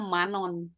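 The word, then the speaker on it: 만원: Mereka bacanya manon. Manon mungkin dari ini ya. Dari ma nuon. Tapi kalau nuon kan susah ya jadinya non. Jadi manon.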